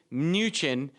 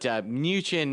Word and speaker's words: Mnuchin: But Mnuchin is going to be a fun one to say for a while. Gotta love silent letters in the Treasury Secretary.